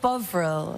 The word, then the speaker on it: Bovril: Am I mispronouncing it? Yes, it's called Bovril.